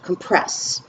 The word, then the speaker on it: compress: can also be the verb and then it's pronounced compress and that's when it's the action of pressing